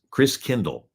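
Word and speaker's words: Christkindl: come from the Christ child and the German pronunciation of Christ child is Chris Chris Kindle like kindergarten Kinder kind means child Chris means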